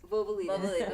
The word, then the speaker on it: Vouvalides: How do you say Vouvalides. Vouvalides.